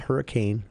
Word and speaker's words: Hurricane: Sky View is also hosting uh they're hosting hurricane at uh not hurricane hurricane uh I learned that in the early